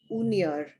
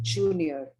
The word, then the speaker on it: junior: There was a pronunciation of the word junior as unior. It should be pronounced as junior.